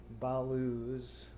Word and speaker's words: blues: the weary blues back when blues was a two-syllable word blue s balooz where in the country